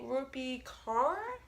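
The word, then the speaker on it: Rupi Kaur: yet but I chose milk and honey by rupee car that's how you say it but everyone knows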